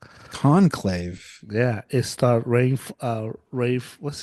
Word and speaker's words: Conclave: It's called Concave. Con, con I can't say even Whitney's shaking her head right now. How do you say it? Oh, Conclave. Conclave.